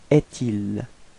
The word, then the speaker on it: est-il: So it's actually quite easy to figure, because you get this trait d'union between est and il. So actually we'll have to pronounce est-il, est-il.